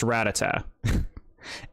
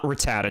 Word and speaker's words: Rattata: And yeah, like I said the other day, it's pronounced Ratata. It's not Rattata, chat.